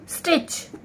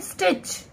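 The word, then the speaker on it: stitch: तो एस टी, इस टा का तो साउंड आ रहा है लेकिन ये वाला जो टा है ना, टी जो हमारा है, ये हमारा जो है साइलेंट है, मिसिंग है, मतलब कि हिच।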